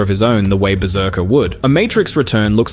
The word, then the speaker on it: BRZRKR: A title spelled without a single vowel that everybody just pronounces Berserker out loud anyway.